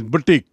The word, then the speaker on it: boutique: और इसका उच्चारण देखिए, उच्चारण इज बुटीक, BOUTIQUE.